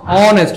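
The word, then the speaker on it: honest: হবে এটা একটা কনসোনেন্ট কনসোনেন্ট কিন্তু উচ্চারণটা দেখেন কার মতো অনেস্ট অনেস্টকে বাংলায় কি দাঁড়ায় অনেস্ট অথবা বাংলায় যদি লিখি তাহলে কি দাঁড়ায় অনেস্ট অনেস্ট তাইলে শুরুতে কি আসতেছে অভাল আসতেছে এইজন্য এখানে হয়ে যাবে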